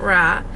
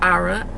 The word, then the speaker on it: Ara: name is ara that is how you pronounce the it's not raw it's aura i'll tell y'all another